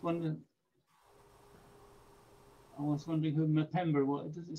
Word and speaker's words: Mpemba: Mpemba. Mpemba. Say it again. Mpemba. Mpemba. Right. Okay. So M is a separate letter, really.